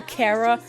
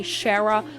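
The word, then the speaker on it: Chara: I pronounce her Kara, but I know some people say Shara, which I think is wrong.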